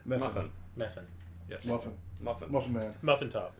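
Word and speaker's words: Mephin: Spell it. M E P H I N. Muffin. Meuffin.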